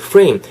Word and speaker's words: frame: frame. 프레임 하지 마시고 프레임은 이제 어떻게 말하면 좀 콩글리시죠. 한글화 된 그 콩글리시고 프레임 F 사운드는 절대로 윗입술 아랫입술이 다 안 돼요. 아시겠죠? 그래서 프레임 윗니로 아랫입술 긁으면서 frame this 이것도 한 번에 이렇게 가주셨으면 좋겠다.